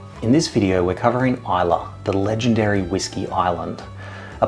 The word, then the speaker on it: Islay: Nicknamed the Whiskey Island, Isa is spelled I sleigh, but it's pronounced Isa.